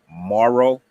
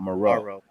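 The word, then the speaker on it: Moreau: us have been uh pronouncing Foster's last name um the wrong way apparently it's marrow like the linebacker that we had yeah not maroo Maro yeah it's marrow Maro you know I mean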